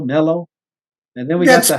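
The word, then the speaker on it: Millo: And then we got the stepstone structure, which you call the Mellow, not Milo, Mellow.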